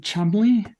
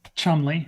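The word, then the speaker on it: Cholmondeley: um in in the English yeah the name Chumley that you might have heard so like the surname Chumley yeah I've seen Pawn Stars uh c-h-o-l-m-u-n-d-l-e-y oh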